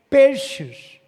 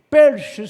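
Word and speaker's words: Pesach: O termo Páscoa deriva do verbo hebraico peixes. Não é peixes não. Perses que é a pronúncia do hebraico que é p E s a c h per não é que é a palavra hebraico de Páscoa.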